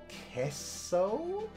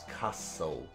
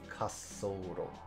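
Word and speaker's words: 滑走路: Gunyo Kesso? No, I think that's Kasso. Gunyo Kassoro ga yuiitsu no dashutsu ruto de aru. Okay. I just want to check my pronunciation of Kassoro, because that might not be right. Okay, it totally is.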